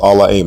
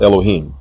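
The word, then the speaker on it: אלהים: Genesis 1:1 is pronounced allahim not Elohim there is no long o vowel in this word and the letter ha is silent unless it is the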